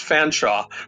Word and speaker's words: Fanshawe: It's really pronounced Fanshawe. It's like a British name. You spell it one way, and you pronounce it another way.